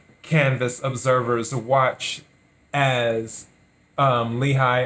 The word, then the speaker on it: Lehigh: observers watch as um lehigh or leahy however you want to pronounce that county workers count ballots